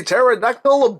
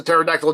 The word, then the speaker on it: pterodactyl: going to the bathroom because the P is silent ah I know it's